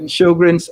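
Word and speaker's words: Sjögren: know someone will ask about the question so sjogren's how it's pronounced it's actually a syndrome people with rheumatoid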